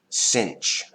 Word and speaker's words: sinh: The cinch of x is equal to this.